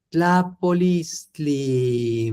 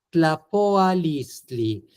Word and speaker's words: tlapoalistli: Yewat, amo, mati, tlapolistli. Muy bien. Solo si me permite ser así muy, muy, muy preciso, no te olvides que es tlapoa, tlapoa. Te comiste una pequeña A. Tlapoa, tlapoa, tlapoalistli.